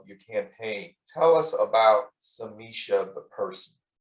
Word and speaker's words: Samichie: the first time is samisha rhymes with keisha yeah that's right you